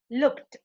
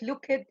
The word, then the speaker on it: looked: it it's strong we should say help looked not look it or look or whatever it should be looked snapped laughed washed watch